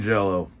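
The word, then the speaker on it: Jellÿ: We got GWAR and Green Jello. Fuck that fucking Y shit. From what I understand, the two umlauts or whatever these are called above the Y make it to where you pronounce it as O, so fuck you, Kraft Foods.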